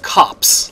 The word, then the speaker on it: Copse: here in the huntsman cops and i actually did look it up it's pronounced cops like you know policemen like hey here comes